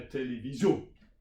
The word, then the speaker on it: télévision: So that's the second one is you put the stress on the end. Yeah, télévision.